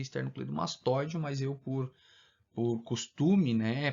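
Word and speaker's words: esternocleidomastóideo: O acento mesmo é no O, né? A pronúncia mais correta seria esternocleidomastoideo, mas eu por costume,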